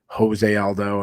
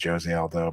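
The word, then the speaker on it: José Aldo: of who it is when people call him Joseé Aldo and I'm like well it's Jose Aldo but like majority people call him Jose like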